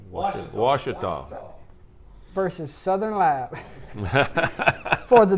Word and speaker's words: Ouachita: I ain't said it right all year. A Wichita Christian Washita.